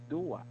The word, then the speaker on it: dua: Yeah, it's pronounced as dua Mm, or two.